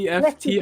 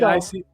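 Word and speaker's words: kleftiko: How do do. you pronounce that? Gleftigo. Kleftic. Gleftico. Yeah, lamb gleftigo. Oh man, that sounds delicious.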